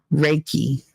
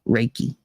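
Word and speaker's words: Reiki: knew yay reiky pronounce I don't know how you pronounce it you're lucky I knew what it was I knew it started with an R raiki raiki okay raiki I'll try to remember that raiki uh you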